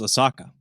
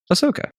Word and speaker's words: Ahsoka: stray oh is that is that how you pronounced I thought it was oaka Ahsoka that's how you say it you did you